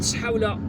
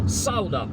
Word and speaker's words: Saoula: And now we are driving to Saoula, and Saoula, or Saoula as it's spelled, S-A-O-U-L-A, is another suburb of Algiers, but in fact it's like a small town.